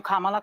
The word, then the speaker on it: Kamala: not president watch Kamala and I'm calling you Kamala because for all of those who are mispronouncing it I want you all to know